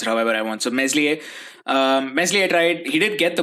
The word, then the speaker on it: Meslier: Meslier tried. I mean, apparently his name's pronounced Meslier. But it's a proper noun. I can pronounce it however I want. So Meslier tried.